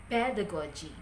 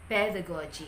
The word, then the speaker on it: pedagogy: there are four for andragogy there are four syllables so anthrocochi the same with pedagogy pedagogy each of these words the primary stress falls in the first component so andre kochi and pedagogy okay pronounce it